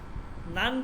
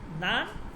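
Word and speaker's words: نان: নান রুটি মানে একটু তুলতুল হইব, একটু হইব, একটু অন্যরকম হইব, ঠিক আছে। তো যাই হোক, কিন্তু ওইটা হচ্ছে নান, কিন্তু ফার্সিতে উচ্চারণ হবে নন, ন নুন আলিফ ন সেদে বুলান।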